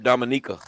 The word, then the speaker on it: Dominica: He from Dominica. No, for real. It's Dominica. That's what it is.